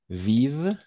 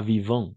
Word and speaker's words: vivent: Vivent, pas vivant, attention, vivent en Afrique. Vivent, d'accord? Parce que ENT à la fin, on ne prononce jamais.